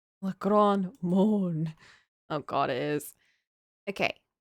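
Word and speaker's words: Le Grand Meaulnes: The name of the chief character in English, an unfortunate homonym of Moan. The Grand Moan. How do you say this? Le Grand Maulne. Le Grand Maulne.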